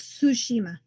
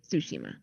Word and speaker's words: Tsushima: I'm not sure exactly which way to pronounce it. It's Tsushima. Tsushima.